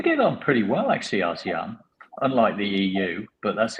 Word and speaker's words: ASEAN: ASEAN.